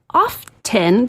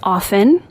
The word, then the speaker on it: often: It is often the no T in the dictionary or sorry, it's often in the dictionary. The T is silent.